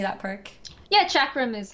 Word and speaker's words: chakram: wait how do you say that perk yeah chakram is how it is in the way and